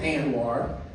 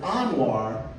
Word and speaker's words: Anwar: to pronounce my name because I pronounce it Anwar native Arabic speakers pronounce it Anwar and here in Baltimore